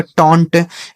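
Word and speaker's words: taunt: न टी से ट ये लिखा गया आपका टोंट टी ए यू एन डी इसे पढ़ा जाएगा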